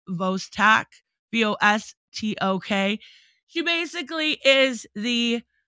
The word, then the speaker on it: Vostok: It's Vostok, V-O-S-T-O-K.